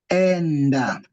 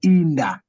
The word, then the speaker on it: enda: The best word of A will be enda. You see, the first word A will be pronounced the same way it's pronouncing, the same way the vowel should be pronounced, which is enda.